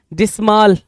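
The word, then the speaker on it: dismal: डिस्माल, है ना, या डिस्मल, कुछ लोग डिस्मल पढ़ेंगे, कुछ लोग डिस्माल पढ़ेंगे, कोई इशू नहीं है जी, प्रोनाउंसिएशन है।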